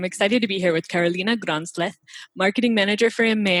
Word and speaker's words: Carolina: So my name is Carolina, like you pronounced perfectly, and I'm the Marketing Manager for EMEA at Pexip.